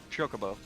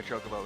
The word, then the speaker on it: Chocobo: How do you pronounce the name of that bird he's riding? Chocobo.